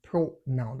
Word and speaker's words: pronoun: Unlike the other word, pronoun, that is stressed on the first syllable.